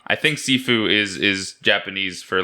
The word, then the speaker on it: Sifu: Is that the right pronunciation? Yeah, it's Sifu, yeah.